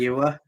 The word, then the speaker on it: Famuyiwa: Famuyiwa.